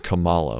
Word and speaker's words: Kamala: Kamala Harris, Cory Booker. Kamala. Is it Kamala? Kamala. I thought it was Kamala like no, Pamela. Like Pamela, no.